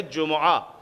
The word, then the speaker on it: جمعہ: پر بھی پیش ہے۔ اسی طریقے سے جب آپ جمعہ کہیں گے اور قرآن سے تلفظ اٹھائیں گے تو وہ ہے جمعہ، جیم پر بھی پیش ہے، میم پر بھی پیش